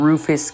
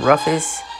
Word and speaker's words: Rufus: Minister to Great Britain, Rufus King of New York, for vice president. I've been made aware that it's pronounced Rufus and not Ruffus, so I apologize for mispronouncing it in my last video.